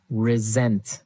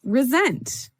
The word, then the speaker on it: resent: said I resent that resent resent okay now this is spelled exactly like re-sent like with an S right that's right r-e-s-e-m-t but you pronounce it like a z resent resent that so